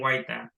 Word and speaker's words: Huayta: My last name is pronounced Huayta, so it'll be Huayta.